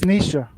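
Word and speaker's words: Nietzsche: pronounce that nich right Nish Nisha no it's Nisha that's how you sp pronounce that yeah that's how you pronounce I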